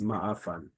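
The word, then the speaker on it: מעפן: What makes this stand out is also how you pronounce it. If you can pronounce ayin, not just as a regular but as the other standardized form in Hebrew and also in other Middle Eastern languages like ayin, you really put some more oomph into it.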